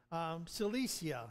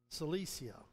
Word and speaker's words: Cilicia: Cilicia is the way it's pronounced. Cilicia.